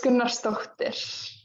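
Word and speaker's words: Gunnarsdóttir: How I'd say it for Americans is like Gunnarsdottir. That's yeah. Okay. But how's it really? You said how do you say it for Americans? So how's it really said? So it's Gunnarsdottir. So you have to But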